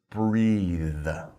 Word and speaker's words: breathe: pronounce it breath but if you're talking about the action that's a verb we put an e on the end and we pronounce it breathe okay so breath breathe